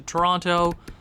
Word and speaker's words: Toronto: Traded him to Toronto. Sorry, I'm Canadian. I just sometimes pronounce the second T. I know you're not supposed to, but I do.